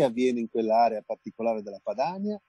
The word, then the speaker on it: Padania: Perché avviene in quell'area particolare della Padania, o della Padania, per dirla col poeta, visto che l'accento potrebbe andare sulla I, perché quell'area è fortemente attraversata dai sistemi di produzione agricole che sono allevamenti intensivi.